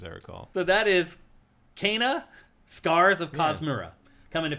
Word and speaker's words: Kena: In the little like clip they ran after this with the developers, they said Kena.